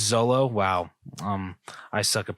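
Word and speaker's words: Xolo: give to is his is it exola or Olo Zolo it's Zolo wow um I suck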